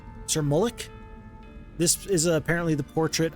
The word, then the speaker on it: Mullich: And Sir Mullick is going to go in this direction. If you didn't know, by the way, I think it's pronounced Mullick and not Mullich. Sir Mullick.